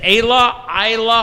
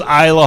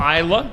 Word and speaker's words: Isla: Is it Ayla Hall from Tri-County? I believe it's Isla Hall. Isla, okay.